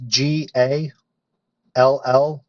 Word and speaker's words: Gallegos: name for us that's g-a l-l-e-g-o-s there you go it is pronounced Gallegos that's it I'll learn that today yeah there's no Y in there but it's no problem